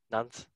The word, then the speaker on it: Nantes: Nantes, yeah, sure.